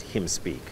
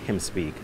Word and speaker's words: Hymn Speak: Although it is spelled H-Y-M-N, I really wanted to capture this notion that him, referring to Christ, will speak while the H-Y-M-N is being sung.